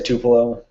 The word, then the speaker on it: Tupelo: to pillow i guess there's like eight different pronunciations but the locals say tupelo i'm good with that